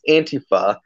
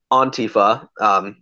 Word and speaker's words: Antifa: and Italy among today's Antipa the shorthand for anti-fascist in many languages also in other places pronounced on Tifa just so that you know just so that everybody knows that this Anglo knows that she's pronouncing it wrong but yeah at the